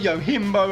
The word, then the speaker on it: Yojimbo: speculated that niflheim had built fights the Yojimbo yimbo how it's pronounced looking being that's the creature that's on